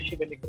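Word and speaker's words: Šibenik: I hope I got the pronunciation of H&K Shibenik right.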